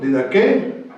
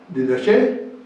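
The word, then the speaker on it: διδαχή: Esto es, enseñando, en el griego, didaqué, didaché o didajé. Es la misma raíz, varía la pronunciación.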